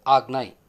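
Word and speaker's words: Ajna: chakra is often written as a Jinnah but pronounced as Agni as far as the Kundalini Yoga is considered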